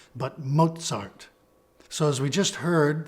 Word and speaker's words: Mozart: letter z in German this is pronounced as a combination of T and S as in Mozart it's not mosart but Mozart so as we just